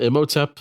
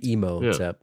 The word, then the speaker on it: Imhotep: Some people call him Imhotep. It's just false. No, it's got to be Imhotep. Yeah. Imhotep returns. They should just respell it.